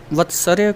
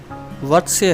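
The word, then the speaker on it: वर्त्स्य: कुछ लोग इसका उच्चारण वत्सर्य करते हैं, जो कि एक गलत उच्चारण है। इसका उच्चारण वत्स्य है। र का उच्चारण त और स से पहले किया जाएगा।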